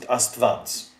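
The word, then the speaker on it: Աստուած: And an U followed by a vowel sounds as if it were a V and a vowel. So this is written astuads, but we pronounce it astvads.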